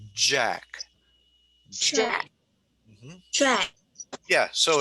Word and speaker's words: Jack: So you would say this sound is j, j, j. So you're using your larynx, you're using your voice, j. Yeah. And if that's the way you say my name, you say Jack.